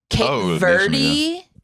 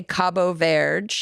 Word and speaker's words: Cabo Verde: Like Cape Verde or Cape Verde. Like, that's not how they say it. They say Cabo Verde. It's Portuguese. Yeah.